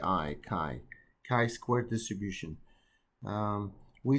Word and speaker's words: chi: letter simple chi so you pronounce it it's pronounced as k i chi chi square distribution um we say a variable has